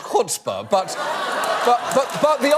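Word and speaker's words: chutzpah: lawmaker Jim leech says it is quote sheer shuts paaw for the daily fantasy sports sites to pretend the law makes them legal okay okay okay first of all shuta is actually pronounced cspa but but but but the idea the idea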